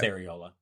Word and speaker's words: areola: as the aerola areola areola I can never pronounce it right yeah it's areola but it's not as significant as the areola